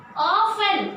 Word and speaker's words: often: Next, often. Again T I am dropping, children. O-F T-E-N is the spelling, but pronunciation is O-F-E-N.